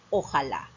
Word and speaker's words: ojalá: similar a la ola se pronuncia por separado pero nosotros al adaptarlo lo pronunciamos juntos como una sola palabra y decimos ojalá no te olvides la